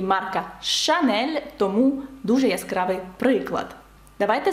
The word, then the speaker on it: Chanel: А давайте наразі поговоримо про марку «Chanel». Ви бачите, що «л» наприкінці теж читається, бо це виключення.